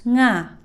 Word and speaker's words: nga: So you have the phonetic symbol of ng. So you will produce that sound, then connect it to the vowel a, and you should be able to produce nga.